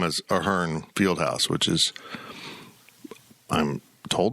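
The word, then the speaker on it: Ahearn: people are trying to recover the name as aarn Fieldhouse which is I'm told the proper pronunciation of it because I feel like even on TV and on campus they call it aharn that's what it's been known as I mean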